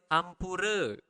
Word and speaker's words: ampura: Sorry is ampura. Ampura. Again, you need to pronounce the R clearly.